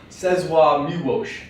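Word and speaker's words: Czesław Miłosz: Czeslaw Milosz. You just kind of swallow the L's down your throat.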